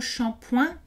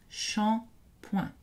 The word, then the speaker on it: shampoing: attention aux mots shampoing bien que le mot shampoing soit un emprunt à l'anglais est d'origine indh et on le prononce avec des voyelles nasale shampoing et petit rappel à savoir les terminaisons verbal